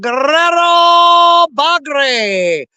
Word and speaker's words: Guerrero Bagre: Guerrero Bagre. See, you guys, I say it properly. You none of y'all say it right. You got to roll your R's. Guerrero Bagre. That's the proper way to say that.